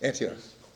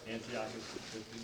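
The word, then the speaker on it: Antiochus: Antioch. Say it. Antiocus.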